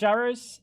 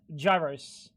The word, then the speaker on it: gyros: By the way, it's not pronounced gyros. It's pronounced gyros.